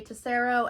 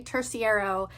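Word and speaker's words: Terciero: Green Gables by Ray Tacero and Claudia Agger. This is editing key to say that I butchered their name, so I looked it up. It's Ray Tersiierro and Claudia Agira.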